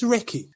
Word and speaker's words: Reiki: What is Reiki? First of all, Reiki is a 2-syllable word, which comes from 2 Japanese words, which means God's wisdom and life force energy.